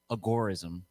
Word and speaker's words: agorism: and i think uh agarism some people say agorism i think that's actually the appropriate proper way to say it but i'm a rebel